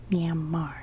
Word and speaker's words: Myanmar: bit much but myanmar for people that live there don't pronounce this r and it's very much um two syllables it's more like whereas in english it can be myanmar or myanmar so the latter is